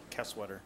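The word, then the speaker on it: Keswedder: K-E-S-W-E-D-E-R, Kesweater. Kesweater, okay. I've been butchered for years.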